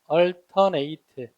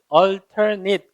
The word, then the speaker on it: alternate: alternate. 이렇게 되죠. 얘가 동사로 쓰이면 번갈아 가면서 하다, 번갈아 하다 이런 뜻인데 동사로서는 많이 쓰이지는 않습니다만 이게 alternate가 또 발음이 alternate 그러면 형용사가 돼서 그때는 다른이라는 뜻도 있어요.